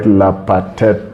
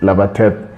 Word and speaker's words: Lapatet: Now, Lapatet, the way Lapatet is pronounced, it's not quite Lapatet, it's Lapatet, because then you can hear the P sort of go away, it's almost silent, because Kalenjin doesn't distinguish between vocalized and non-vocalized consonants.